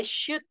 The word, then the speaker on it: should: Bian, I still hear the L. Why should? No L. Why should you be on YGT?